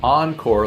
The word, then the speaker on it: onCORE: It's encore, like turned on.